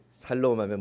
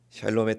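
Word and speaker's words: שָׁלוֹם: 이스라엘 식으로 인사해 볼까요 샬롬 발음을 잘 하셔야 됩니다 살롬하면 뭘 자꾸 사라는 것 같습니다 샬롬의 뜻은 주님의 평화가 당신과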